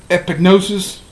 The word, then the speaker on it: epignosis: p i g or e pig and then gnosis n-o-s-i-s it's like it's an episode epignosis see with the same same pronunciation so i said this